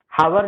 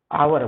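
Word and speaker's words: hour: और एन क्यों लगता है, क्योंकि इसका प्रोनाउंसिएशन है, वो क्या हो रहा है, प्रोनाउंसिएशन आ से आ रहा है, आवर। हावर नहीं कहेंगे, है ना, आवर बोलते हैं, मतलब घंटा है।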